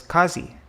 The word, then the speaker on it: qazi: of that post was qazi interesting is it a long air short a yeah it's